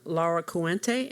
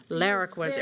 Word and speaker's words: Lara Cuente: Logan Laura Cuente, am I pronouncing that correctly? Close enough. You're the closest that anybody's come up with. So. Oh, well, tell me the correct way to say it. Lara Cuente, okay.